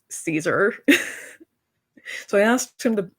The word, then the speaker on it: Caesar: If you haven't noticed, when I was a kid, I couldn't pronounce Caesar for the life of me, and naturally, it always ended up being Caziar, and no one corrected me until I was 12.